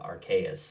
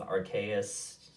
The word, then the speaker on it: Arceus: his channel in regards to the upcoming pokemon arceus or archaius depending on how you want to pronounce it i'm going to go with archaeous because it's kind of the official title it's